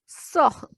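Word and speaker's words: sœur: Next is OE. OE has sound A. Word is soh, means sister.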